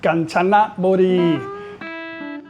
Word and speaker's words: Kanchanaburi: And today I'm going to be your tour guide to the area called Kanchanaburi or Kanchanaburi in Thai in Thai language. It's pronounced Kanchanaburi.